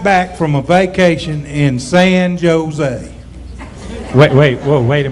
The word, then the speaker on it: San Jose: heritage and everything and in the spanish language the uh the jays are pronounced as h's it's san jose well excuse me mr